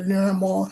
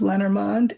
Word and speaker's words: Lenormand: Uh I wrote a book called The Language of Lenormand or Lenormand or Lenormal, however you want to pronounce it. Um it's uh it's called The Language of Lenormand, and it's uh a really friendly guide.